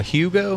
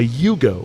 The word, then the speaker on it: Yugo: A Hugo? A Yugo. Yugo. Yeah. I don't know how to spell it.